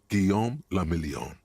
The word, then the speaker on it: Guillaume le Million: Guillaume le Million. Okay, what's that? If it doesn't rhyme, you're not pronouncing it right.